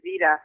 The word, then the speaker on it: Vida: were originally from oh the pronunciation of my name is vida you never originally don't